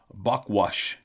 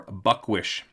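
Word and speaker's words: Bukwus: to the Kitimat Indians, the bookwis, pronounced buckwash or buckwish.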